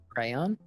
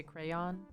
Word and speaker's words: crayon: person or thing um kyrie asked what's the correct correct pronunciation of crayon crayon you say crayon yeah i don't know i always say it's like like like there's a letter that's just missing now so it's like